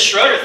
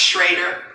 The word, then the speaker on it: Schroeder: Madame President, leader, it's actually pronounced Shrader if you'd like to know. Oh, Madame Shraider.